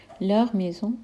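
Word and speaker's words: leurs maisons: अब third person plural है एल और एल, उसके साथ बनेगा लर मेज़ों यानी देयर हाउसेस, इसमें भी हम एस को प्रोनाउंस नहीं करेंगे।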